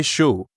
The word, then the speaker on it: chaud: The word chaud is pronounced like the English word show, but you stop right before you start closing your lips for the W.